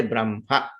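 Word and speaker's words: ब्रह्म: And you know, Brahma, when you write, actually it is Ha and Ma, but when you pronounce, you say Brahma.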